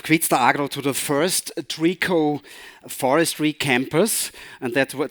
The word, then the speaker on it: Trico: because i forgot online we said it's trico and it's it's so easy it's so the easel sprinkle so easy you have to think of trees 2e but in german